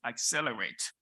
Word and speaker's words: Excel 8: The event is called Excel 8, pronounced Accelerate.